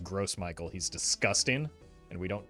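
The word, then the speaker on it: Gros Michel: had a good stream French speaker here it's pronounced grow Michael not gross I'm sorry but this is America and it's pronounced gross Michael he's disgusting and we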